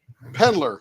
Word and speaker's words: Pendler: Yeah, it's like Pendler, like Penn and Teller, only Pendler.